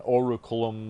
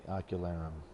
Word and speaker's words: Ocularum: So I haven't been saying it right. I'm going Oraculum, blah, blah, blah. There's no R in the beginning. The Ocularum.